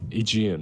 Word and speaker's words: Aegean: How do you pronounce Aegeis Komora? Aegean. Aegean.